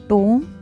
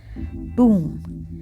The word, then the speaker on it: tomb: The correct answer is oo. Letter O has long oo sound, that is tomb, tomb, and letter B is silent.